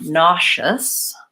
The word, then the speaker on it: nauseous: match the sounds so nah I would rewrite it spell it more like this nah just nauseous first syllable stress and vowel ah here and a just a schwa sound here so that's an ah nah chefs and unstressed schwa nauseous and the s in